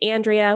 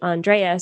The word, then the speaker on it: Andréa: on your profile so a lot of people for me for instance say andrea which is fine but it's actually andrea so on linkedin i